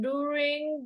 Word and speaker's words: during: The R is silent. Jadi kalau silent itu pengucapannya itu seperti digabung. Jadi tidak terlalu kentara R like that, okay? So during, okay? During. So it's like the R and I is like combined like that.